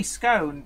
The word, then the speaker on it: scone: it's gone or is it scone I say scone because it's oh and then a consonant and